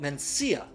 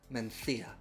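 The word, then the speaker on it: Mencía: in the northwest spain it looks like it would be called mencia but you'll look really smart if you pronounce it properly menthia there's a couple of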